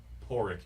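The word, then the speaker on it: Pádraig: about your age uh it's spelt padreac but it's porridge because it's gaelic stuff but um he's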